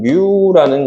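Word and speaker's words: μ: 그리스 로마 문자에는 알파 베타 감마만 있는게 아니라 유자 비슷한 뮤라는 값도 있어요. 다시 뭐라고 해요? 뮤라고 읽어요. 뮤. 유라고 합니다. 유자에다가 이렇게 하나만 더 그으면 뭐가 되는 거야? 되는 거야. 유자가 아니라 뮤가 되는 거예요.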